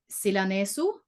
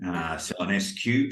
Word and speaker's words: Silanesu: your name, I would have thought it was Silanesu. That's very good. Oh, thank you. But how Very would good. you say it growing up in Australia? Oh, there's all sorts of pronunciations for my name. Silanescu, people put a Q in it because it's